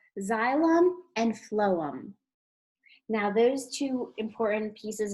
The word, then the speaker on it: phloem: And the word phloem starts with a PH, like in the word phone.